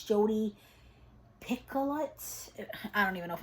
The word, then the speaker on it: Picoult: I've heard of the author, and it's Jodi Picoult. I don't even know if I'm going to say that right. Maybe you don't pronounce the T. Pickle.